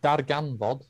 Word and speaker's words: Darganfod: Oh, Darganfod. That's the one. Yeah. My So apologies for my Discover, right?